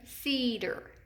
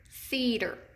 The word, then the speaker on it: cedar: Our syllable break is right after that E. So this is an open E pattern word. Cedar. And just like it says in our anchor chart, and we've reviewed, that is going to be accented in the first syllable.